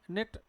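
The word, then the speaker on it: knit: और क्या लिखा है नऊ, जिसमें क्या भाई, के साइलेंट है, निट, के साइलेंट है, नाइफ, के साइलेंट है।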